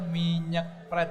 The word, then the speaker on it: Minyeuk Pret: Bacanya minyak Pret gitu ya? Bukan minyak. Bacanya itu Minyak Pret.